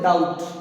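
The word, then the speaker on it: doubt: अब आगे वाला देखो, डी ओ बी टी, इसको डापुट या फिर डोपट, ये नहीं होता है, ये बी है और ये साइलेंट, इसको हमने बोलते डाउट। क्या बोलना है?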